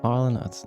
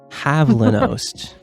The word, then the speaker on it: Havlinost: Harlanost. No. Sorry, I'm saying it wrong. Havlinost. Oh, Havlinost.